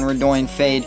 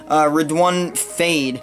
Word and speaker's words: Redoine Faid: thank you to falconry Morocco for correcting my pronunciation on her don't fade it's actually pronounced red one red one fade I want to give another thanks to I